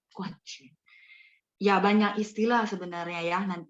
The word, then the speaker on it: 冠军: Cuman ini harus dibaca Guan Jun. 什么是冠军? Guanjun adalah juara 1, champion. Tapi dibacanya harus nada 4.